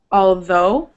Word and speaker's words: although: Although. Although. Although. Although. Although. Yep. It's not O. It's not ooh. Ooh. It's O. Long O.